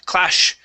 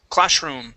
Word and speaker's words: classroom: go to uh classroom here you had said clash clash classroom okay so this is going to be a regular s sound class classroom classroom there you go nice